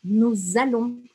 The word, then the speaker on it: nous allons: Eu não vou falar nous allons. Lembra que a gente não pronuncia o S no final das palavras? Aqui eu vou falar nous allons. Eu vou grudar a sonoridade.